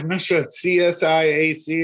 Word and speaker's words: CSIAC: the acronym of that ccac awesome yeah csi ac is the way i go about it um you don't try and make a word out of it but but anyway but